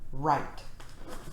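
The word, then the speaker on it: write: says er rhino and we have wr right okay next we have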